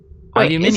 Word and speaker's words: aluminium: Look, you say aluminum, I say aluminium.